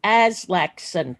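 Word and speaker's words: Aslaksen: That's Aslakson. Please pronounce it correctly, Aslakson.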